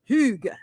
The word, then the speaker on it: Hygge: Hygge.